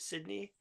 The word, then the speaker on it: Sydney: In terms of numbers passage and I hope I'm pronouncing your name correctly. Is it Sydney? Yes you got it.